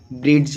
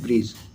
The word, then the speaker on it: bridge: लोग क्या पढ़ते हैं, बहुत व्यक्ति पढ़ेंगे BRIDGE, ब्रिड्ज हो गया, ठीक है। कोई अलग अलग प्रोनाउंसिएशन करेंगे, तो इनका जो रियल उच्चारण होता है वो होता है ब्रिज। क्या होता है, ब्रिज। इसमें डी जो है ना वो साइलेंट होते हैं।